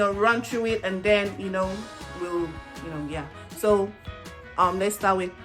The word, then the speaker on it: gb: It's written GB. It's pronounced we.